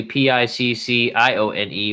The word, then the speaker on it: Piccione: is is is actually p i c c i o n e which is piccione which means a pigeon